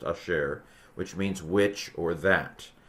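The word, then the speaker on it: אשר: Asher is how this is pronounced. Asher, which means which or that.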